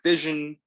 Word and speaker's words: fission: into smaller pieces right fission rhymes with division right and that's that's